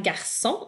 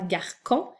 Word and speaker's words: garçon: a un C et pour que ton C soit doux pour faire garçon et non pas garcon et bien tu dois